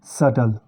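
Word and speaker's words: subtle: इसको हम इसको बोलेंगे सेटल इन सब शब्दों में टी की आवाज़ ए रही है लेकिन बी साइलेंट हो जा रहा है दोस्तों जैसे इंग्लिश में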